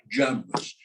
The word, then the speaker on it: Jamra: people come to America, they drop the Abu. And so I have cousins who are Jamras. They're Jamras, you know, and that's how it's pronounced here, Jamra, but it should be pronounced Jamra.